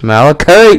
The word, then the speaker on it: malachite: It's malachite, man.